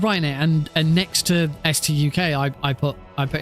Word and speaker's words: Stuk: I calling it stook why don't I just say it should be pronounced the letters so it should be pronounced St UK and you know in